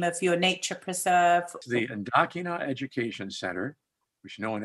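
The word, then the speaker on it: Ndakinna: The Ndakina Education Center, which no one ever can pronounce, but it's N-D-A-K-I-N-N-A, Ndakina Education Center.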